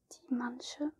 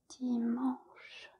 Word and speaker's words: dimanche: It's not Dimanche, like some of you might think, because it seems obvious. It's Dimanche. The N is not pronounced.